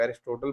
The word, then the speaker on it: Aristotle: इसको कोई लोग एरिस्टोटल पढ़ते हैं, कोई काफ़ी जो है एरिस्टोल पढ़ते हैं। यहाँ पर टी साइलेंट करते हैं तो प्रोनाउंसिएशन काफ़ी मुख्तलिफ होती है। आप इसको प्रोनाउंस कर सकते हैं दोनों तरीकों से।